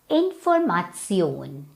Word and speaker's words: Information: Same spelling like in English, but pronunciation is different. It's Information.